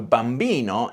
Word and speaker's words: bambino: The stress on Italian words is important, and normally it's on the syllable before last, except when it isn't. So bambino is predictable, but telefono and cinema aren't.